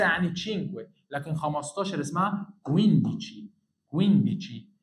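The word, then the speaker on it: cinque: خلي بالك من الكلمه دي عشان في ناس كتير بتنطقها غلط. اسمها تشينكوي، تشينكوي، تشينكوي، 5.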